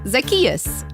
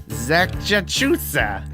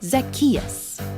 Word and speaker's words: Zacchaeus: Zacchaeus. Zacchachusa. No. Zazacchino. What? No, it's like Zach. Just say it after me. Zacchaeus.